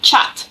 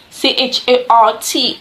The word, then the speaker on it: chart: CH h a t while I pronounce that as chat I pronounce c h a r t as chart so chat chart chart